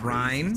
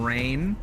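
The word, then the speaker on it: Reyn: The the guy they had read the script, he mispronounced every character's name wrong. There's a character called Ry. He called him Rain.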